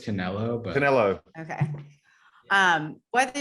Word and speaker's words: Canelo: move is being debated am i saying it wrong is that why you're laughing i think so i think it's just canelo but canelo okay um